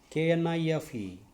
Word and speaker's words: knife: Now next, K-N-I-F-E, knife. 5-letter word, knife. Okay. In the pronunciation, 2 consonants are there. Na, fa, na, fa, na. knife. I is only the vowel sound. So one vowel sound is there. So that it is a monosyllabic word.